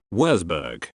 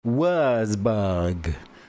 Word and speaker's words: Würzburg: Is that how you pronounce it? Würzburg. Würzburg.